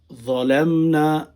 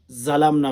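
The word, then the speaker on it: ظلمنا: রব্বানা যালামনা, অনেকেই জালামনা বলে না, নাউযুবিল্লাহ।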